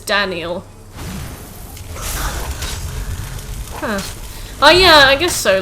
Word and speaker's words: Daniel: but i don't know they call me denial but it's daniel oh yeah i guess